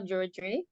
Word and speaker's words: Druidry: And the part 2 is the wisdom of Druidry. I'm saying that wrong. I feel No, you're saying it right.